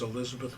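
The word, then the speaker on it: Elizebeth: It was at Riverbank that Elizabeth, and her name was spelled Elizabeth with an E and Elizabeth with an A, but the preferred pronunciation was Elizabeth with an E.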